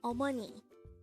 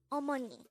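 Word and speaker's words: 어머니: term for mother is Omani again it's Omani this is pronounced the three syllable word the first syllable is ah second syllable is Mo and the third syllable is knee pronounce it with me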